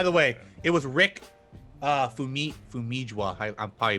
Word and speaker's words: Famuyiwa: I know I butchered Wait, it. Is it Fumiya? But it might be. No, Let's just- Famuyiwa.